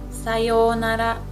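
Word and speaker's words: さようなら: And how we pronounce it is sayonara, sayonara, sayonara.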